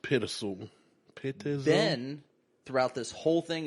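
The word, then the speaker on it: Pitezel: We got a gentleman by the name of Ben Petzel. Pittizel. Something like that. So I believe it's pronounced Pittizel.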